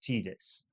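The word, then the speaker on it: Tidus: I know it's pronounced Titus. I'm well aware it's Titus, and I will die on this hill. But I know it was intended as Titus.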